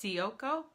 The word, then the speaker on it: Ciocco: And this is from Carol, and I think her name is pronounced Ciocco. It's C-I-O-C-C-O.